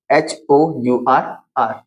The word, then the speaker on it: hour: यहाँ पर HONEST honest, यहाँ पे HONOUR ऑनर, और यहाँ पर HOURR। तो जब भी H के बाद में O होगा तो क्या हो जाएगा? वहां पर H साइलेंट हो जाएगा।